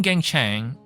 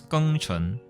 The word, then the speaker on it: Geng Chen: the name gang Chang that is pronounced in the English Lang is actually pronounced as K Chun but I'm going to